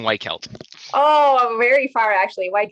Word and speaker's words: Weichelt: your name for us you got it close it's it's white kelt oh very far actually